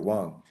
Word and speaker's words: Wang: Yeah, it's spelled Wang, but that would be the Wong way to pronounce it. So we'll call you Wong for today's purpose. Thank you for joining.